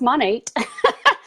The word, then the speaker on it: Monat: in business together at money yes it's pronounced money and we decided we're